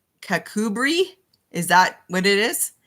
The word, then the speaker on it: Kirkcudbright: Is it really in Kirkcudbright? I didn't. That's really, really funny. Okay, I'm setting the timer for another 20 minutes. And Carolyn, you're right. I'm saying it phonetically, and that's not Kakubri.